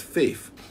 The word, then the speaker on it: 8F: 8F, and when you take the number 8 and you put F, you put the F next to it, it's pronounced faith, and it's closer to faith.